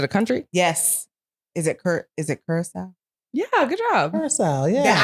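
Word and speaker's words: Curaçao: Is it Curacao? Yeah, good job. Curacao, yeah. That I never pronounced correctly because I don't know. How had you been pronouncing it? Cacao. Yes. What happened to the R?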